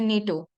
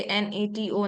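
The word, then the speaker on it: NATO: एज a single word जैसे हम इसको पढ़ते हैं नीटो हम इसे एनटीओ नहीं पढ़ते अगर तो एक्रोनिल जो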